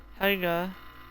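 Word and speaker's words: Haigha: Helga, pronounced to rhyme with mare and sounds like hare, and Hatia.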